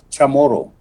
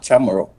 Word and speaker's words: Chamorro: I'm sure you very much would like to know that it's pronounced Chamorro, not Chamorro.